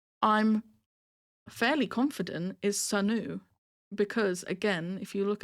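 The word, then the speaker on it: Sunoo: His name is Sanu, right? Like oo, not you.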